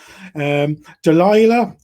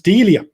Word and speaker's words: Delia: look here as a Delilah how are you doing now presumably you're inundated with applications oh it's Delia sorry I've just mispronounced your name god how awful and